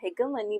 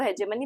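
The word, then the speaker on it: hegemony: गया था कि जो हेजमनी है या हेगमनी जिसको आप कभी-कभी बोलते हो वैसे इसको हेजमनी प्रोनाउंस करते हैं।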